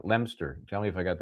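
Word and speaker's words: Leominster: Now try I'm going to say Lemster. I'm going to go with it's L E O M I N S T R. Lemster.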